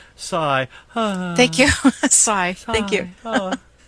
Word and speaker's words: Cy: It's Doc and Doug just call him Cy, pronounced Cy.